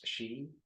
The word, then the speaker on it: Xi: Let's take a look at President, I think it's pronounced Xi.